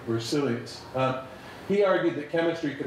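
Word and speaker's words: Berzelius: on the mechanistic side is jacob brazilian site they've been pronouncing that incorrectly so Jacob bruseles he argued that chemistry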